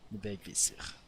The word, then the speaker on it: Vegvisir: Thank me for being Norwegian, so I can suddenly change how I pronounce the words to be, you know, how I would say it in my own language, even though this is more, you know, the Norse one, so even what I say is slightly wrong.